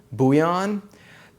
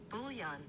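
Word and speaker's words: bouillon: up a little bit buan here's the thing I thought it was buan but then I've been seeing like professional chefs pronounce the L's so that's why I'm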